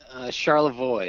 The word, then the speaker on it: Charlevoix: So is that Charlevoix, or do the Michiganders change that somehow? Charlevoix is the official pronunciation.